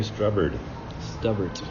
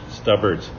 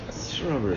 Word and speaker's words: Stubbert: Stubbert. Stubbert. But I like the way you said it. That was good. Because that's like Whiskey with Mark pronunciations. Strubbert. Strubbert.